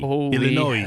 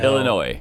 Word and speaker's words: Illinois: I I yes, and I'm honestly telling you we do not pronounce the S in Illinois. Illinois. Illinois, yeah.